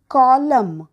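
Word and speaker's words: column: बोलत जा नेक्स्ट आहे सी ओ एल यु एम एन कॉलम म्हणजे स्तंभ आणि सायलेंट लेटर आहे एन पुढचं बी ए एल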